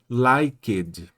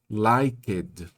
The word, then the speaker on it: liked: O brasileiro gosta de falar tudo que tá escrito, então ele vai querer dizer likeed, liked. Todas as letras, todas as sílabas. No inglês não é assim.